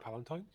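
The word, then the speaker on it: Palatine: Palentine. Pal. Yeah. Pal Palentine. That's how they say it in the in the audio book at least.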